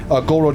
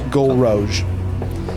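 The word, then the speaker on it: Gullroge: It's like rogue, but rogue. It's spelled Gol, rogue. It's Golroge. It's the French word for red.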